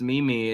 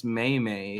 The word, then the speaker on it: meme: did is said Mom it's not pronounced Mimi it's Maymay it's actually French how would you do